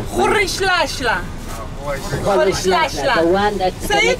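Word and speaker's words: Rolihlahla: You can pronounce it. Khorishlashla. Khorishlashla.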